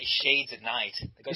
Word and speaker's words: ShadesAtKnight: No, not night. It's night. That's how Americans say it. I love my shades at night. I said what? It's a thick Cockney accent. You gotta do the pursy lips, talking to the back of the throat, you can talk like Michael Caine.